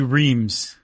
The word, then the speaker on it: Reims: But we even have a thing in here that says if you say Rennes, then you're an American city slicker. If you say Reims. Oh, okay. Rennes, I've seen plenty. But Reims is what they say in the Help Me Out article that we got.